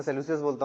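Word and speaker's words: Seleucus: हाँ सेल्यूसियस, मैं सेल्यूसियस बोलता हूँ, आप सेल्यूकस बोल रहे हैं, ठीक है, वो प्रोनाउंसिएशन वाली बात है।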